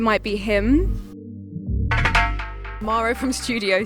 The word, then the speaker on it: Estúdio: Maro from Studio C. Am I saying it right? You are. If you're British, you'll say Studio C. Okay. But in Portuguese, studio. Studio is studio in Portuguese.